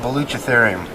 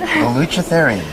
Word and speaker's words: Baluchitherium: of fun on particular little things like the unpronounceable instrumental. It's called Baluchitherium. Can you say that again? Baluchitherium.